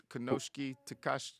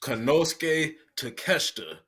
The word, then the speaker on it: Konosuke Takeshita: Konosuke Takashi. Konosuke Takeshita.